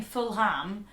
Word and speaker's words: Fulham: So rather than saying Fulham, it's Fulham. Yeah. Again, it's sort of like a silent H, and you don't say Fulham, you say Fulham. Fulham. Fulham. Fulham. It's like you're Welsh and you're trying to say film. Fulham.